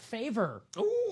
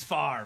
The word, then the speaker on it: Favre: Brett Faver butchered his name. Favor Favre. Uh, but it's far right.